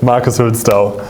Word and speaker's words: Hülsdau: Is that the right pronunciation? Yes, it is correct. Marcus Hülsdau.